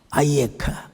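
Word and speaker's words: אַיֶּכָּה: 히브리 말로 아이에카 아담 뭐 히브리어가 잘한 사람 아이카라고도 하는데요 발음을 하느냐 안 하느냐 그래서 정확하게 하면 아이에카 아담 아이에카 아담이 질문은요 하나님이 인간에게 처음 던지는 질문이었는데 군도둑이 하나도 없어요.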